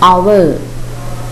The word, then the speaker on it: hour: The next word, what is it? Hour, hour. The silent letter is H.